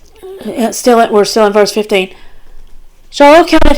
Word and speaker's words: Shaul: And that's spelled the same way as Shaul. So Shaul is Shaul, and Shual is Shual.